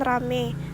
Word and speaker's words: ramai: Kata ramai diucapkan rame, petai diucapkan pete. Perubahan ini terjadi pada bunyi vokal rangkap ai ke vokal tunggal e.